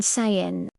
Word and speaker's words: Samhain: Oktober MIT in großen Fest Nomens, Samhain, ausgesprochen sein.